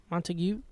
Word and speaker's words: Montague: of like montague okay montague montague silent g where did where's that